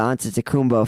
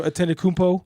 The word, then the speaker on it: Antetokounmpo: I mean, really, when you think about it, when you trade for the Antetokounmpo family, like you're really only paying when you